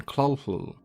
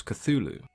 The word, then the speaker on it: Cthulhu: up a furball so the pronunciation that is widely accepted and used today is of course cthulhu in the years that